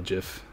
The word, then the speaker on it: GIF: have a new donation thing new donation little jiff cuz apparently they're pronounced just not gifts even though it gifts